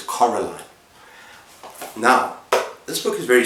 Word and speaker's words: Coraline: this is Caroline and remember how you pronounce the name pronounce her name it is not Caroline it is Coraline now this book is